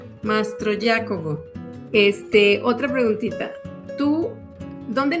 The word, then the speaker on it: Mastroiacovo: ¿Cómo pronuncio tu apellido? Mastro Jacobo. Mastro Jacobo.